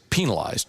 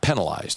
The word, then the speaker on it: penalized: Well, in if you go look at in Webster, the preferred pronunciation of the word is penalized, not penalized. It's like the penal system.